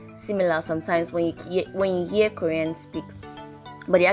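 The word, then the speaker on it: ㅠ: So remember this vowel, it is pronounced oo. But if it's double, that makes it you.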